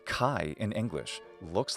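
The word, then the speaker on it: χ: Greek consonants in fact the letter Kai is the aspirated version of Kappa it basically sounds like a Kappa plus an H sound K hand now you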